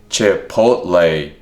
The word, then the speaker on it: Chipotle: She says, in Texas, we pronounce it Chipotle.